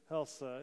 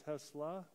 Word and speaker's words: Hesla: Prayers for Donna Gorman's niece, Carrie Helsa, is fighting cancer. So we lift up, and I probably mispronounced the name, it's Hesla. Maybe that's a little better, but she's fighting cancer.